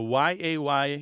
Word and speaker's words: yea: the last 100 years like yea also pronounced yay by the way is